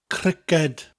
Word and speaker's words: criced: Now cricket in Welsh is criced, criced, spelt C-R-I-C-E-D. So we don't have the letter K in Welsh. But this K sound that we get from the K in cricket, in Welsh it comes from that hard C sound.